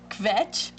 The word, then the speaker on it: kvetch: Kvetch? Kvetch. That's the right word, right? Complain, run on about it all. I say it right? Very good, Dr.